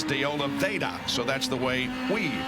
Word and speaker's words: de Oliveira: And I know we're going to get letters saying, oh, you pronounce his name wrong because there's an R in there. It should be de Oliveira, but he says de Oliveira, so that's the way we pronounce it.